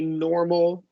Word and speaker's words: normal: So basically, like you drop the vowel before this syllabic L. If there's an R, right? So Oh. normal, which is only 2 syllables. So you're going to have to say normal.